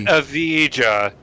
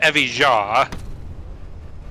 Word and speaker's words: Evija: It's Evija, not Evija.